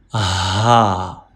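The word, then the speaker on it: ح: Ha. One more time. Ha pronounced from throat. And this is upper part of throat, middle part of throat, and lower or farthest part of throat.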